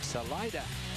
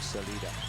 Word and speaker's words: Salida: start to roll out from Salida and that is the way to pronounce it for our viewers around the world even though it's we would more logically call it Celida.